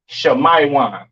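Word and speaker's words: שמעון: And this is pronounced Shemaiwan, all right?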